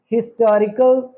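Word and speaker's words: historical: पहले लगता था एन लेकिन अब हम क्योंकि इसे अटल इसको हम अंबल इसको हम हिस्टोरिकल नहीं प्रोनाउंस करते हम इसे होटल इसको हम हंबल इसको हम हिस्टोरिकल हिस्टोरिकल प्रोनाउंस करते हैं इस तरह से इनका प्रोनंसिएशन चेंज हो गया है यह प्रोनंसिएशन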